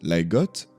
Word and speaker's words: leg godt: Il traduit le mot « bien joué » en danois qui se prononce « like got ».